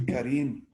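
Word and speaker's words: كريم: Or we call the person karim, but it's actually karim.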